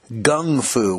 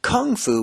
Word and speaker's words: gung fu: Or as Bruce called it, gung fu with a G.